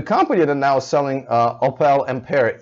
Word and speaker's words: Opel: Opel, however you want to pronounce it. In Europe we pronounce it Opel, but whatever.